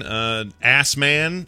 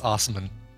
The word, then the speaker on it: Assman: Remember a Saskatchewan man, Assman, or Asman, or however you pronounced it, but it's spelled Assman? It's definitely. Oh, yeah, that's right. It's Osman. Right?